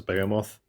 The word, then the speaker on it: Behemoth: The plan is after Revenant, we get the Behemoth or the Bamoth. Again, depending on where you are in the world. It's probably another one of those Americans say behemoth and everybody else says Bomoth, but uh doesn't really matter, does it?